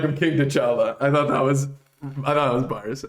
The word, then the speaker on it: T'Challa: Wakanda forever, like I'm King T'Challa. So the only thing that rhymes with Chala is T'Challa.